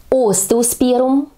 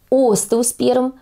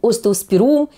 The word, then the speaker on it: остеоспермум: И следующий цветок остеосперум именно с ударением на первый слог о остеосперум а не остеосперум или остеосперум Да часто мы произносим это слово с ударением на е вот правильно друзья на гласную о самую первую произносить честно признаюсь вот в